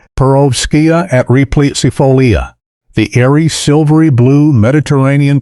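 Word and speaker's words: Perovskia atriplicifolia: Russian sage, Profotripsifolia, pronounced Perovskia atripsifolia, the airy silvery blue Mediterranean perennial that signals high-end landscape design to anyone who knows what they are looking at.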